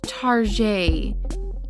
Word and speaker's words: Target: him the name target pronounced tarjay or like the French pronunciation of the word target that people will often